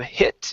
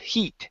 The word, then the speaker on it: heat: be an e sound raise your tongue in the back of your mouth instead of hit it's he heat heat and light heat and light good